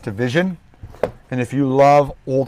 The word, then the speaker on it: DVSN: someone corrected me it's it's spelled dvsn but it's pronounced division and if you love